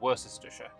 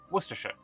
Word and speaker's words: Worcestershire: Despite being in an alliance with me, England declared war upon my vassal of Worcestershire. I pronounced that horribly, it's actually Worcestershire, which obviously seemed like a bit of a bug.